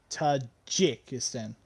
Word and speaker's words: Tajikistan: it just Falls straight Tajikistan not geek okay Todd G so she probably said a J in most contexts it's pronounced as a g oj it's a G